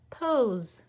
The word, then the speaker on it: pose: it's a vowel sandwich pose we're not saying that e it's silent our next word rhymes